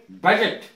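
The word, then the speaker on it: budget: अथ होता है चिन्ह जी से पहले डी साइलेंट रहता है जैसे के बजट बजट का अर्थ होता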